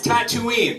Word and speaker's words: Tatooine: properly oh and you're already walking away it's tatooine it's sad it's depressed stuff i get depressed